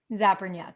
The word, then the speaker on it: Zapernyak: zapernick now okay so let me pronounce that zappernook zapernyak yup zapping nut yeah people think